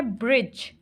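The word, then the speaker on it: bridge: इसमें के साइलेंट है नेक्स्ट है ब्रिज ब्रिज अब इसमें क्या चीज साइलेंट है ब्रिज में डी डी साइलेंट है ब्रिज तो नहीं बोल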